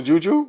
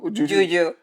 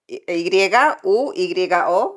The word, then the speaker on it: yuyo: The juju? Yuyo. How do you say it? Y-U-Y-O, yuyo.